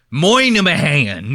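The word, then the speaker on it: Minihane: Dave, Whitney, and fucking Kirk Minahan. His name is spelled Minnie Hane. And they pronounce it the fucking crazy. They go, my name is Kirk Moynihan.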